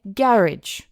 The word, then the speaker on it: garage: Some people in in the UK, in England, they say garage with la emphasis in la primera parte, garage.